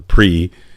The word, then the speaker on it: PRI: one of the lecture Mexico's PRI which is pronounced the pre and the challenge of